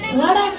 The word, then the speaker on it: water: ওয়াটার না, এটা ওয়াটার। ওয়াটার জি, স্যার। জিহ্বার আগে সামনের দুই দাঁতের সাথে লাগবে। ওয়াটার ওয়াটার। Water.